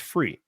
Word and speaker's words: Fure: cab if you want to go to the website um but it's it's pronounced free yep so he's always